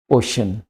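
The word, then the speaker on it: ocean: आ रही है ठीक है अगर तो इसका उच्चारण है ओशन तो यहां पय आवाज श को दे देता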